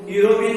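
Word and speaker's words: European: अब इनका प्रोनाउंसिएशन क्या निकला, बट दीज वर्ड्स या those words, but those words are pronounced किसमें, विद द यू, विथ द you sound.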